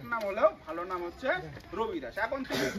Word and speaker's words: রবিদাস: ওনার আসল নাম রবিদাস হলেও কেউ কেউ আমাদের বাংলার এদিকে ডাকে রুইদাস, আবার কেউ ডাকে রুহিদাস, আবার কেউ ডাকছে রামদাস, কেউ ডাকছে ঋষিদাস, কেউ ডাকছে রায়দাস, আবার কেউ ডাকছে খৈদাস। এরকম বিভিন্ন নাম উচ্চারণের ভেদে ওনার নাম পরিবর্তন হয়ে গেছে।